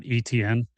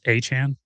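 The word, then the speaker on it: Etienne: It's not ETN. It's Achan, which is weird because the Dolphins running back, Devin Achan.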